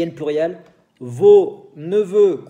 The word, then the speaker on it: neveux: Y en plurial, vos neveux, cuidado con X, el plurial, vos neveux, vos nièces, con S que no se dice, para sobrinas.